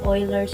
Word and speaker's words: Euler: One of his formula is sometimes called Euler's polyhedral formula. His name pronounced Euler.